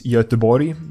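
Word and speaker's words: Göteborg: things a lot so yeah my hometown is yatabori Gothenburg in English I don't know why we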